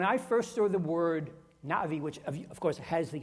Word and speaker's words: Na'vi: And so the correct pronunciation of N-A apostrophe V-I is Na-Vi, Na-Vi, with a break there. Not Navi, Na-Vi.